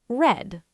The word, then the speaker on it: read: Read. You're right. The word looks the same, but the pronunciation changes. Today I read. Yesterday I read, but we say it like the color red.